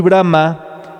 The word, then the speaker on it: Brahma: Brahman quiere decir el absoluto y Brahma el tercer aspecto. Muy importante aquí el acento en la última A para reconocer a Brahma.